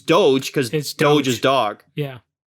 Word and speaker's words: Doge: I think it's Doge. I think it's Doge, but I keep calling it Dodge because my brain doesn't read it like that.